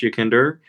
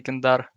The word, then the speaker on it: YEKINDAR: Okay, when you said dar, you like Yeah, he has definitely- the accent on it there. Yeah. It's Russian. Yeah, the Russians usually say YEKINDAR.